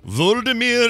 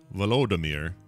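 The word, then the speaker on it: Volodymyr: today uh ukrainian president vladimir zielinski i hope i'm saying it right vladimir i think it's it's vladimir is it vladimir it's v-o-l-o-d velodemir look man you want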